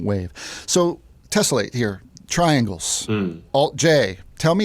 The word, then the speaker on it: alt-J: So the idea was that the band's name would be the symbol, but it would be pronounced Alt-J.